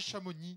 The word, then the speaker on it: Chamonix: Et pourquoi on dirait Delma, ici? Bah, parce qu'on dit Avoria, on dit Samoin... Et on dit Chamonix. Et on dit Savoyard. Voilà, la dernière consonne n'est pas prononcée.